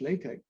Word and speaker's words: LaTeX: LaTeX is pronounced LaTeX.